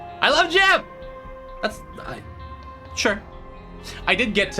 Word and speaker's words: Jimb: And I'm like, "Jim." He's like, "No, no, your account name." I'm like, "Jim with a B. B is silent.